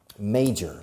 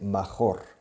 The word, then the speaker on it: major: Now, major, la pronunciación, major, se escribe major, pero se pronuncia May, como el mes de mayo en inglés, major.